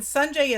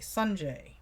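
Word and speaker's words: Sanjay: my dog Rosie and sunjai is sa n J a Y and it is pronounced like the big ball of fire in the sky and J sunjai okay this here B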